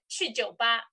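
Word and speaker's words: 去酒吧: Pronounce like chi jiu ba, go to a pub, okay?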